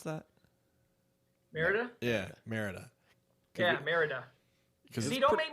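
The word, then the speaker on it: Mérida: Speaking of the name, Tom, how do you properly pronounce that? Merida? Yeah, Merida.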